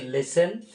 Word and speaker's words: listen: LISTEN এটাকে উচ্চারণ করতে হচ্ছে লেসেন, ঠিক।